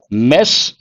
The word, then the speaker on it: Ms: what is this MS it should be pronounced as mess but preference should be given to this pronunciation mes have you heard of